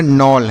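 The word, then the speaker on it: knoll: इसे हम पढ़ेंगे नॉल।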